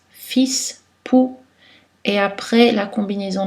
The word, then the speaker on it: fils: La lettre L n'est pas prononcée devant un S, fils, pou, et après la combinaison de voyelles AU, et en fin de mot, Renaud, Thibault.